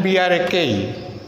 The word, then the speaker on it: brake: Similarly, B-R-E-A-K and B-R-A-K-E. Both these words are pronounced as break.